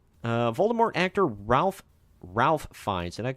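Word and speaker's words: Fiennes: uh variety Voldemort actor Ralph fines I think it's fees I never learned how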